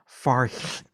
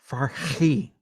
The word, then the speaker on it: Farhi: And the correct pronunciation of her name is Farhi. Farhi. I can't do it. I thought I could. It sounds Klingon. I can't do the back of the throat Klingon thing.